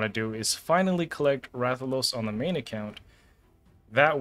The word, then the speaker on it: Rathalos: By the way, it's pronounced Rathalos.